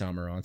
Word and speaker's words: Amaranth: I'm going to get a message that this is pronounced Amaranth. No, it's Amaranth. That sounds better.